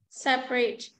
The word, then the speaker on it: separate: a listen and practice the vowel immediately after a stressed syllable is sometimes not pronounced average different separate